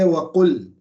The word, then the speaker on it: وَقُلْ: So you say waqul, then the lamb comes back because now you've stopped there.